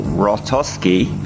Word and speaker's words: Hrostoski: I'm here with Rostovski I'm saying your name right yeah yeah it's got a silent h in there it's got me confused